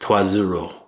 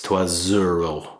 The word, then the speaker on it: trois euros: But in French it's called liaison, which is where two words connect depending on what the outgoing and incoming vowels or consonants are. So trois euros is pronounced trois zero, so it's trois zero.